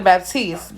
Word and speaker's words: Baptiste: the best there so his name is dr baptiste but it's spelled baptist and i'm baptist so